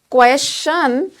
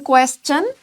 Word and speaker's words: question: If you say question, this pronunciation would be incorrect. However, in these kind of words, we produce chun sound, that is C-H-U-N. So if you are saying question, then that's the right pronunciation.